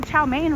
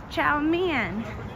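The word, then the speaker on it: chow mein: learning Mandarin is um that we all say chow main wrong does any body know that am I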